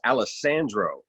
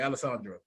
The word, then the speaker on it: Alessandro: that's kind of real you gotta gotta say how they pronounce it right because anybody else would just probably come and say alessandra you like nope oh no yeah you gotta roll that uh that's not what